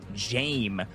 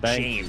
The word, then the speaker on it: Jame: but also Nas and Jame, by the way, is how that's pronounced. I've been seeing it in the chat. They've been helping me out. Jame.